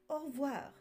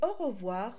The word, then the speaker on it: au revoir: nord de la France vous l'entendrez certainement prononcer au revoir car la tendance est à la contraction des mots en revanche dans le sud le E est prononcé et au revoir aura bien trois syllabes à tout de suite